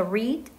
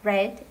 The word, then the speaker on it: read: 역시 모양이 바뀌지 않지만 발음은 바뀌어요. 그래서 read, 읽다, read, 읽었다 정도 해석을 하시면 될 겁니다.